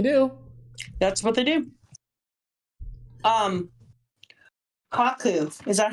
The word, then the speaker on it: Kaku: Kaku. Is that how I pronounce it? Kaku? Kaku, yeah.